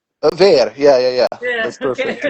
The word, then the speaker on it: VER: Is the right pronunciation? Ve.